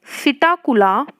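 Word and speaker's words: Psittacula: Parrot का क्या होता है, तो पैरेट का होता है सिटाकुला, देखो पी साइलेंट है, सिटाकुला यूप्टेरिया या यूप्ट्रिया, ठीक है, ये किसका है, पैरेट का।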